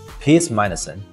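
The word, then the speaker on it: PEACEMINUSONE: 来跟我一起发音，Piers Morgan。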